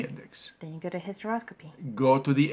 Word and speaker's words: hysteroscopy: Then you go to hysteroscopy. Go to the H and find hysteroscopy. It's spelled H-Y-S, okay? Not H-I-S, but H-Y-S. The hystero with a Y is the uterus.